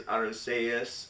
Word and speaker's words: Arceus: diamond shiny pearl and or switch that with arceus because it is arusaius on the katakana so the real pronunciation is the softsee uh but yeah if